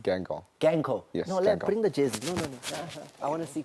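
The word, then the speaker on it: Guingamp: can but I can try we call it gang go but it's about Queen Queen yeah we all say that but it's pronounced gank or gank oh yes I want to see closely why are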